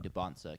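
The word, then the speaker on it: Dybantsa: But no one is going to get on you for saying DeBansa, because that is one of the common pronunciations.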